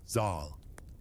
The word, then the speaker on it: Zal: His name was Zal, pronounced with a long a Zal, and soon a bird of legend would hear him, the Simer.